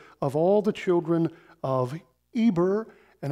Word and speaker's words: Eber: all the children of Eber and I understand the way to pronounce that is Heber from which we get the word Hebrew right okay the father